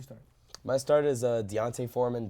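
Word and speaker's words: D'Onta Foreman: my start is uh Deontay Foreman Dante foreman and Rihanna's I've heard his three different ways to say his name but I'm gonna say Deontay Foreman Panthers running back obviously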